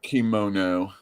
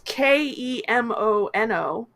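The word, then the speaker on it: Kemono Jihen: Kimono. It is Kemono, Excellent. and then it's Jihen, Jihen.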